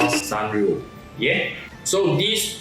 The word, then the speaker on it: Sanrio: Bandai collaborated with this brand, which till now I have difficulty pronouncing the name. It should be called Sanrio.